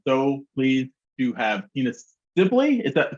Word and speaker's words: Sibley: I am so pleased to have Tina Sibley. Is that the correct pronunciation of your last name? That's correct. Yes, Sibley.